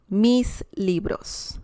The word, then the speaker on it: mis libros: two books or more you can say mis libros mis libros that's the correct way to say my books okay and let's say